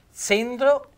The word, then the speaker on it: zendro: Invece zendro, mezzendro, sentite la Z dolce, la E aperta, è il genero. Mezzendro, mio genero. Quindi zendro, la cenere, zendro, il genero.